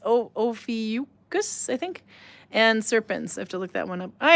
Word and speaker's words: Ophiuchus: It's between the constellations of, I want to say Ophiuchus, but no, it's Ophiuchus, I think, and Serpens.